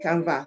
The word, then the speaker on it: Canva: needed to say so what is the canva the canva is an app canva is an app it's spelled c a NV a so if you have